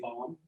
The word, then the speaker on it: bomb: don't say we say bomb it's a silent b so it's it's an irregular domain but you'll notice that it's still fairly regular enough that you don't uh but you know bomb isn't pronounced right you're